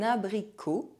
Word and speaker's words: abricot: The letter O is pronounced O when followed by a silent consonant at the end of a word. Un abricot.